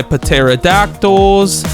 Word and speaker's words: pterodactyl: So, I can now go ahead and pick up my pterodactyls. Also, I know it's pronounced pterodactyl, but it's so much fun when you say with a P.